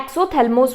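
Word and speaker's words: exophthalmos: एक्सोथैल्मोस क्या होता है, देखो यहाँ पर क्या लिखा है, ऑफ्थैल्मोस, मीन्स ऑफ्थैल्मो मतलब आई से रिलेटेड, तो इसको हम कैसे प्रोनाउंस करते हैं, एक्सोथैल्मोस बोलते हैं।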